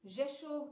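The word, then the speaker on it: Rzeszów: poland will be via the jeshu airport uh jeshuru airport it is spelled with an r it begins with an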